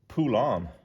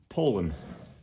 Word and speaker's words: Poulan: said pronounced and it it showed you phonetically how to pronounce it and it was Poland. I probably don't even say it correct every other time because my dad always calls it a pulon and I grew up calling it that.